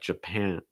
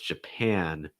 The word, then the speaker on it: Japan: is all too high so it sounds more like japan but japan japan again back your tongue down front of your tongue high japan next one ghana gotta